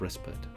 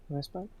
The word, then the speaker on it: respite: muscle yep moments of respite respit respite I always pronounce it Rite but I I think it's resped again I like the